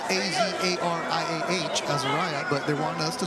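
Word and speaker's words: Azariah: Azaria. Cottrell is coming up next, so let him know. How's it? And I was told that's how we say her name. It's spelled A-Z-A-R-I-A-H, Azaria, but they want us to say Azaria.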